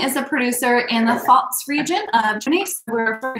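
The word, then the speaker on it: Pfalz: how it's pronounced so pretend that p is not there um and there's a d in between the l and the z and then you got it false um like my parents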